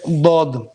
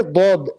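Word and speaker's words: ضاد: The only letter that's not pronounced from the center line is the letter Dad. It's from the sides.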